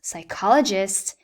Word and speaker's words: psychologist: We've got patience, a pronounced P, psychologist, a silent P, progress, again, a pronounced P, and pneumonia.